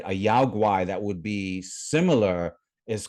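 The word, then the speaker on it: 妖怪: In China, it's pronounced yaoguai, right?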